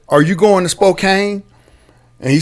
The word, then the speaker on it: Spokane: spokane if you're if if you don't know the pronunciation you would say it's spokane yes okay and so so